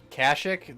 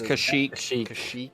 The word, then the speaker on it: Kashyyyk: jamaric wise canned heat speak pete yeah um kashuk the the wookie home world is it's kashyyyk i'm no jack about star